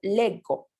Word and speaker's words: leggo: El le, tenemos esta pronunciación de la G, ¿sí? Ye, legge, pero en cambio cuando usamos la primera persona vamos a utilizar io leggo, ¿ok? Entonces vamos a tener el sonido duro en uno y el sonido dolce en otro, ¿ok?